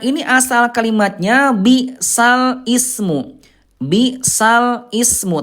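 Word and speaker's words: بئس الاسم: Bisal ismu. Tapi cara bacanya nanti Bunda bukan bal ismu tapi bisalismu dipindahkan ya.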